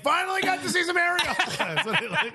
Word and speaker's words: Arriola: Which, by the way, when he scored, I yelled, "Arriola, baby!" I said the name wrong, and my wife was like, "What the fuck did you just say?" I was like, "No. It's Arriola.